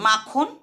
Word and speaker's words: মাখন: এগুলির প্রত্যেকটাতেই প্রথম যে দল তাতে শ্বাসাঘাত পড়ছে বা জোর বা স্ট্রেস পড়ছে।